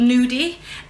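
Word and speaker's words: gnudi: actually classed as it's something called new D it's spelled GN u di and I think it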